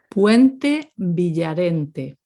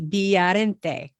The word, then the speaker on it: Puente Villarente: if you listen carefully, it seems as though they pronounce every vowel. So, puente. We do. Yeah, you do, right? Puente, Yes. Villarente. Puente Villarente. Again, that V, Villarente.